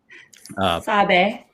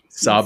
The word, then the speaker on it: Sabe: I'm going to screw up the pronunciation, but I think it's Sabe. Correct me if I'm wrong, Juliana. Sabe. Sabe, I knew it. Sabe. I was like, it's not as simple as it looks.